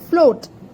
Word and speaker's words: float: At number 5, we have float. Fleur, O, T. Now again two vowels are together. Fleur, then O, where A is silent and O is taking its name.